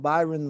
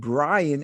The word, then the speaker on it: Byron: but that reminded me, not only did he say his name, he said Brian, and Byron said Byron. Like you hear him shout through the thing. Like, my name ain't Brian, it's Byron, right? So he got switched the R and the Y, brother.